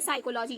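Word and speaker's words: psychology: होगा इससे पहले आया पी साइलेंट होता है जैसे साइकोलॉजी ये देखिए आपके स्पेलिंग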